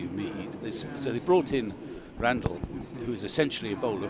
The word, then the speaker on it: Randall: I know you might be thinking Randall, but we've had it confirmed that he pronounced it Randall, so we'll stick with that.